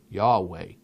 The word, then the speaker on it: Yahweh: a hurt bible college that's the real that's how you really pronounce it yahweh well that's not what